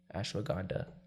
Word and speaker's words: ashwagandha: w a d h a n d a ashwagandha waganda what and what is it it's a